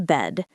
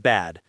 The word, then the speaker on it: bed: The word bed has a short e sound, not bad. Right. Bed, not bad.